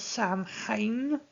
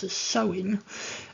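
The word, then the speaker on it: Samhain: have called um well I've heard it spoken as Sam H um actually we pronounce it strictly slightly differently um so it's meant to be proun sewing um but I have heard um other devil worshippers use the term Sam hay and I think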